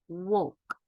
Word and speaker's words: walk: عندنا دلوقتي the sound L. امتى ال L بتيجي silent ما بننطقهاش يبقى صوت صامت. عندنا أمثلة مع بعض نشوفها. عندي choke choke. اوكي. half half half half. talk talk. walk walk. yoke yoke. stoke stoke. wood wood. could folk folk.